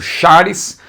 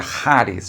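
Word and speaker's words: χάρις: transliterado para você entender tá escrito chares mas você sabe que o ch aí embora em português seria chares mas o ch na interação você tem que dizer se você quiser usar uma pronúncia correta seria haris não é haris elus eirene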